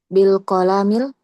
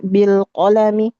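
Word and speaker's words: بالقلم: bilqolami iqra bilqasar maksudnya bacanya pendek di situ. Bilqamil enggak? Bilqalami. Bilqami. Oh bilqolami. Iya pendek semua.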